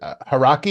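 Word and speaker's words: Hauraki: And just lastly on the other project, is it Haraki?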